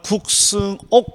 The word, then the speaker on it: 국승옥: 자, 일단 저는 국승옥 강사입니다. 대부분 발음이 어렵습니다.